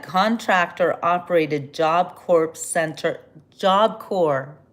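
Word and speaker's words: Job Corps: JobCore. JobCore. The P is silent.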